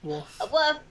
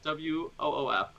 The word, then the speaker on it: Wolf: Say it like WOOF. Wolf? Or or WUF. Or WUF, yeah. As opposed to wolf. With that, you gotta hit that L.